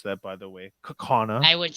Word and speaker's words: Kaukauna: in appleton and kana that's the way to pronounce that by the way kakana i would say i would have said that if you're in hawaii you would say kaukauna but we're not kawana kakawana that's right honor